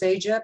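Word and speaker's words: CEGEP: a in French it's uh the acronym is seija c-e-g-e-p which stands for in the English translation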